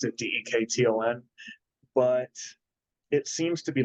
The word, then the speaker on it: Dekton: That's how you pronounce it, Dekton.